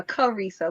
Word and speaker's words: Charisa: we pronounce it uh korisa like with a hard k sound okay yeah it's like the word charisma and if you notice